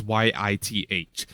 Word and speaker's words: Yith: ancient race of the Yith, which exist outside of humanity as well. The Not it's pronounced weird, but it's Yith.